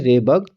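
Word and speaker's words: Rydberg: और आर को हम किससे डिनोट करते हैं, रेबर्ग, RYD, डी इसमें साइलेंट रहता है दोस्तों, तो रेबर्ग कांस्टेंट।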